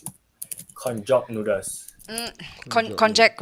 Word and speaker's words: konjac: How do you pronounce it? Konjac noodles.